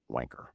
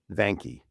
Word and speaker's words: Vanke: It's Now, the locals in Hong Kong call this stock wanker. Now wanker we yes anglicized it's vanke but that's not how